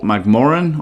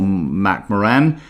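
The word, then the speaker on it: McMoRan: same with the freeport mcmorren or mac moran i can hear people pronounce it a bit differently as i said also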